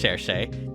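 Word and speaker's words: Cherche: It's pronounced Shershay. Take that, all you people who try to correct me. But anyways, yeah, like Shershay is basically like a brave.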